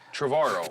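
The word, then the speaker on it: Trevorrow: my guest Colin tavaro you said it right finally tavaro like tomorrow yeah there you go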